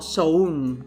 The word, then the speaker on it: Samhain: los celtas sobre todo con samaín que bien pronunciado porque lo he buscado soy una persona responsable sería algo así como soul vale pero bueno para que me entendáis todo el samhain vale el nombre de